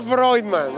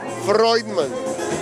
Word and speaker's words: Freudman: se pronuncia Freudman. O sea, en toda mi vida, en mi infancia fue como Freudman, pero ya entendí cómo se pronuncia. Freudman.